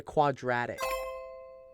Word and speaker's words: quadratic: I don't think Rhymes with automatic. Automatic? What the? I don't. Rhymes with tragic. Or something? It's a quadratic.